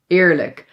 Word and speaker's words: eerlijk: And then lastly, this sound, dubbele a is usually pronounced long like a but sometimes when it's in front of an l or r yes, it sounds a little bit more like i.